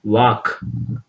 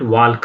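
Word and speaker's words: walk: Next ವಾಕ್, ನಾಟ್ ವಾಲ್ಕ್ ಅಲ್ಲ, ವಾಕ್, ಇಲ್ಲಿ ವಾಕ್ ಅಂತ ಇದೆ, ಇಲ್ಲಿ ಎಲ್ ಸೈಲೆಂಟ್ ಆಗುತ್ತೆ.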